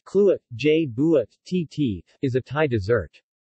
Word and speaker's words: Kluai buat chi: banana in coconut milk tical way but she pronounced Cluett je buit TT is a Thai dessert bananas are simply